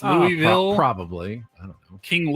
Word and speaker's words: Louisville: You almost like, you don't move your tongue. You almost mumble it.